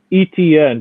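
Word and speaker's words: Etienne: he the rookie travis how do you pronounce his last name etn just like the letters etn okay okay we've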